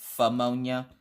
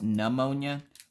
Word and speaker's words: pneumonia: know it's not pronounced ammonia but that's what we called it in the house I know it's pneumonia remember Mike my dad's